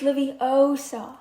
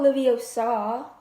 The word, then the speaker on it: Leviosa: trivia wingardin leviosa hamza you're saying it wrong it's liviosa not livio saw anyways our first staff